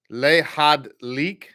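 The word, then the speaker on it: להדליק: Line 6 is both a sounded and a silent Sheva. Lehadlik. So it's a 3 Lehadlik.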